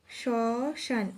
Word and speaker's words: শ্মশান: না উচ্চারিত হয় না যেমন শ্মশান শসান এখানে স এর সাথে যে ম ফলাটা রয়েছে সেটি অনুচ্চারিত থাকবে তাহলে এখানে উচ্চারণটা হবে